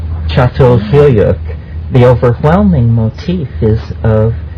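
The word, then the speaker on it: Çatalhöyük: but at for instance melart site uh you pronounce it so well Yes actually spelled c a t a l but it's called chat chat fuk the overwhelming Motif is of cattle lovingly and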